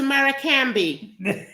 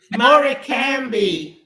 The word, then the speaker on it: Morecambe: Frank, have you ever been to Maracambi? Mary, who can be? Maracambi. What's on the that? northwest coast, northwest coast of the England. Northwest England. Morecambe to the English. Okay. But the Americans pronounce it Maracambi.